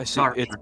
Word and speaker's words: Sartre: Is that how to pronounce his name? Yeah, Sartre.